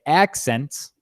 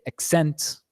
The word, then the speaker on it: accent: Each word on here, if you pronounce if you stress the first syllable of the word, you're going to say it as a noun. If you stress the second syllable, you're going to say it as a verb, right?